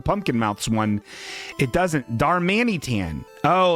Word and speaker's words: Darmanitan: So Darmate, is that how you say it? Why am I not able to read this word? Darmanitan.